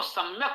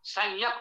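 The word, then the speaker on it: सम्यक्: यदि आपको सम्यक उच्चारण करना है, या चूंकि तालव्य है और मां ओष्ठ है, यदि अनुस्वार लगा देंगे तो उसका उच्चारण या के अनुसार तालव्य हो जाएगा, तो सम्यक नहीं पढ़ा जा सकता, संयक पढ़ा जाएगा।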